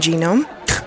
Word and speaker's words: genome: the what the human genome they're called gnomes they live under mushrooms what G is silent even I know that the